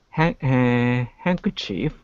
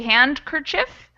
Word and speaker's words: handkerchief: maybe is there because technically that d used to be pronounced so it's something that faded out of english but you could still say it if you wanted so if you wanted to say hand kerchief that would be fine but most people don't say it most people say handkerchief which is how i say well cinemas some people